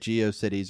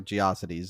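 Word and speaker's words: GeoCities: We had uh depending on how you say it, Geio Cities or Giosities. I've heard both.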